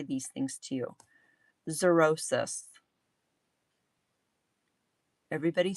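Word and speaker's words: xerosis: Zerosis. Everybody say it out loud. Zerosis. No, not psoriasis. Zur as Z. Zurosis. It's spelled X E R O S I S.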